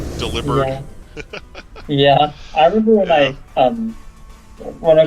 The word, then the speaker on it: Delibird: Delibird is supposed to be pronounced like delivered. Delibird.